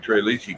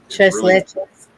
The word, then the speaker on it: Tres Leches: I like Tres Leche cake. That's Mexican cake. It's Tres Leches.